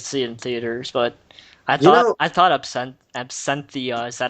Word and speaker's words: Absentia: I did not get a chance to see it in theaters, but I thought Absenthia, is that how you pronounce the music, is pretty good. Absentia, yeah.